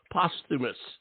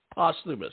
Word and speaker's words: Posthumus: you like it pronounced pus POS posthumus posthumus right pus yep yep yep that's